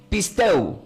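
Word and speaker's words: πιστεύω: Y como del griego se pronuncia como, diga, pisteu.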